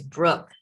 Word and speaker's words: Brouk: it is and it is Brooke the last name throws people because of the you ah okay where is